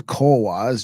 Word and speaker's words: Cohuas: This is Cowas, just like the Nawa.